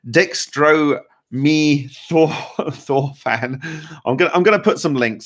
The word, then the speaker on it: dextromethorphan: And that is something like dextromorphan. How do you say it? Dextromethorphan.